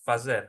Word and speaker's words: fazer: As a result, if you want to say azer in like to do in Latino, you can azer or fazer. Both are correct. Azer is the eastern bud.